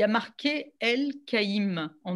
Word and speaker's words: Elkaim: Moi, je l'ai toujours prononcé et entendu prononcer El Kaïm. Et en effet, ça s'écrit dans les papiers des années voilà, 30, 40, et même sur le passeport de mes grands-parents, c'est E-L, plus loin, K-A-I-M. Et pour que les gens